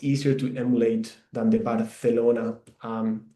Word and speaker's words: Barcelona: I pronounce it uh it sounds a bit like the th in English like thunder. Um that's how that's why we pronounce here barelona.